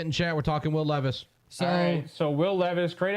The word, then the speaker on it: Levis: that's no big deal it's Levis yeah if you look at the pronunciation if you look at the pronunciation of his name is Ashley I think the autocorrect keeps making people type Levi's it's funny it's not